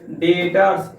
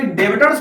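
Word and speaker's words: debtors: हम क्या कर देंगे डेटर्स। इसको कोई कोई डेबिटर्स पढ़ता है, लेकिन नहीं, ये बी जो है इसमें साइलेंट होता है।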